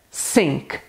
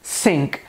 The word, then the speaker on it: sink: A pronúncia é sink. Repetindo, sink. Aqui sim, aqui nós temos o som da letra S, que é bem próximo da nossa língua.